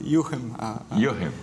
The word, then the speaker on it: Jochen: Sim, é Jochen a pronúncia.